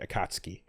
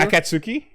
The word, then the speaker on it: Akatsuki: the dubs later on on tunami everyone said akatski okay and so then it was weird to